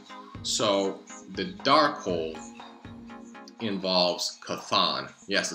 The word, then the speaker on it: Chthon: werewolf by night so the dark hole involves kathon yes it's pronounced con i can't tell you how many people have